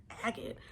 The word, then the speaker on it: agate: But this is blue lace agate, and it is agate because I heard that one pronounced, and when I first heard it I was like, agate? I always thought it was a gate, and I think a gate sounds better, but it's technically agate.